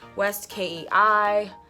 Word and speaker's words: West Kei: one is by West key or west I never knew how to say this what is this it's West Kei and it is the